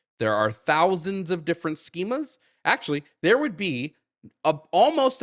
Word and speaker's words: schema: Okay, define the schema of gender identity of a woman. The schema? It's pronounced schema.